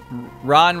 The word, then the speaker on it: Ran: pair you cutting ron ran away but it's like r-a-n-r-a-n ron ron roo when i